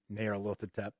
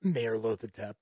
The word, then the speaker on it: Nyarlathotep: There's Nyarlathotep. At least that's how I've always pronounced Nyarlathotep.